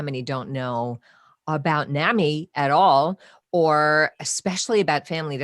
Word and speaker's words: NAMI: we we in minnesota say nami rhymes with mommy you know um suzanne will tell us that mommy started nami and so that's how we remember it here but i've noticed